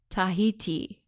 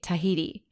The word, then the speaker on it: Tahiti: How do you say Tahiti? Tahiti. You don't say Tahiti. Do it one more time. Californians, we tend to say Tahiti.